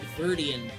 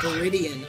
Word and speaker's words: Viridian: When I was a kid, I never saw that second I, and I always pronounced it Viridian. And then somebody told me it was Viridian.